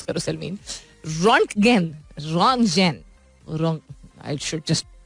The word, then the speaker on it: Röntgen: German physicist थे, इनका नाम था विल्हेम कॉनराड सही तरह प्रोनाउंस करो Salmeen, रॉन्टगेन, I should just pronounce it अंग्रेजी point of view से.